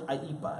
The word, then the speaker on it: IEEPA: So what's IEPA as it's pronounced?